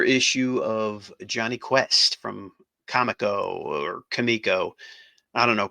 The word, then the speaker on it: Comico: uh older issue of Johnny Quest from Comico or Kamiko. I don't know. People are saying it's pronounced Kamiko, but to me that doesn't make sense because it's a comic, so it should be Comico, but they say it's pronounced Kamiko.